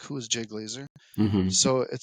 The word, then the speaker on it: Glazer: get your name wrong it's Jay glaz glasner Glazer Glazer like the Fox Sports guy you know the guy